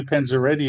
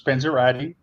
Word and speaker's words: Panzerotti: Yeah, first of all, you called me Panzeretti again, or what the heck you call myself? It's Panzerotti.